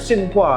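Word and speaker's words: Tsinghua: Dari Singho University di China. Bacanya Singua ya. Singa. Singhua.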